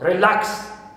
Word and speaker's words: relax: more than one consonant, like in the case of relax. Relax. I have a, and after it, k and sa. So here, second syllable is stressed.